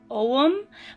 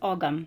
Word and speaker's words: Ogham: some uh it is most of the time pronounced om but sometimes it is pronounced agum so I have half right half wrong um